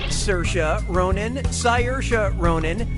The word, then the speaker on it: Saoirse: Brooklyn yeah sure you do how do you pronounce her name Saoirse Ronan Saoirse Ronan say yours Ronan or see